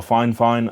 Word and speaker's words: Fifine: I'm not sure from F fine so or fine fine as they pronounce it so thank you to